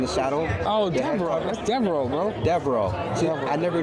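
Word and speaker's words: Devereux: That's Devereaux, bro. Devereaux. See, I never knew how to pronounce that.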